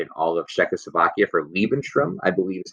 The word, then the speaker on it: Lebensraum: He then also annexes the Sudetenland and all of Czechoslovakia for Lebensraum, I believe is how you say it. It means living space. Hitler is going to talk about Lebensraum or living space so often, basically saying that